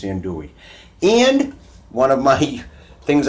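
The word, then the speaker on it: andouille: you pronounce the yells I don't think it's Hindu Lee I think it's in Dewey in one of my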